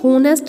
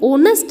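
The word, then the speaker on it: honest: एच से, लेकिन ये होनेस्ट नहीं है, ये ऑनेस्ट है, तो यहाँ एच क्या है? साइलेंट है, और आवाज़ किसकी आ रही है? ओ की।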